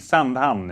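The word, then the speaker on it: Sandhamn: It's sunham. Freddie Sayers: I can help you there, as a Swede San ham is what Aritz pronounced. So you said they planted some of the mines.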